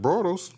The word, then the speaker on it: Bortles: They drafted Blake Bortles. Yeah. Is that how you say it? Bortles?